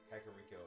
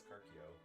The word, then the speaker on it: Kakariko: Back when I was an idiot 6-year-old, I pronounced Kakariko as Karkio. Yeah. Cut out a few syllables.